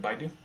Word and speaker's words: Baidu: cent uh baidu and is that how you pronounce it baidu you do so ticker symbol b-i-d-u yeah uh